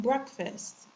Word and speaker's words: breakfast: Also, the sound is the same in the second part of it in breakfast. Breakfast. Eh. Okay. It doesn't sound like A. It's more of an eh when you're opening your mouth wide.